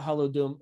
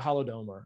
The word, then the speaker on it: Holodomor: What about the Holodom? I'm going to screw it up, but the Holodomor. I totally mispronounced it.